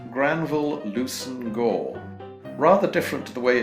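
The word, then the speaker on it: Leveson-Gower: It's actually pronounced Granville Lucen Gore.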